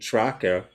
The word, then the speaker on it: TRAKKA: TRAKKA, tracker, Yeah. That's how you pronounce it.